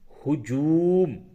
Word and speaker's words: ہجوم: سے پہلے ہے ہجوم۔ ہجوم کا ہجے اس طرح سے ہوگا، ہے پیش ہو، جیم وا پہ جو، میم ساکن، ہجوم۔ ہجوم کے معنی ہوتے